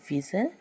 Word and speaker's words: whistle: पहला एग्ज़ाम्पल है WHISTLE, विज़ल। इसमें जो है, जैसा इसमें बताया गया है एल ई से समाप्त होने वाले वर्ड में टी साइलेंट होता है। तो इसमें भी जो है STLE आया हुआ है, इसके वजह से टी साइलेंट रहता है।